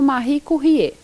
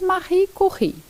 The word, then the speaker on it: Marie Curie: Talvez você ouça falar dela como Marie Curie, mas a pronúncia correta é em francês Marie Curie.